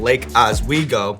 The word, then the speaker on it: Lake Oswego: So I want to start by taking it all the way back to the youth baseball field in Lake Oswego.